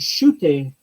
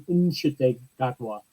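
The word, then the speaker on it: Ncuti: say your name so it wasn't sh gotwa it the N is pronounced in inwa so even he was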